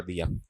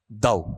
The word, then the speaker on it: though: आपने इसे ये पढ़ दिया, THOUGH, ठीक है। इसका उच्चारण जब आप लेते हो तो इसका उच्चारण क्या होता है, दव, दो नहीं होता है, क्या होता है, दव होता है, ठीक है।